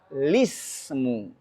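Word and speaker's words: الِاسْمُ: Solusinya kasih kasrah di lamnya. Maka bacanya bisa lismu.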